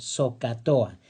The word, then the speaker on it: SOHCAHTOA: La H recuerda que es muda, no se pronuncia, pero lo demás sí lo podemos leer. SOHCAHTOA.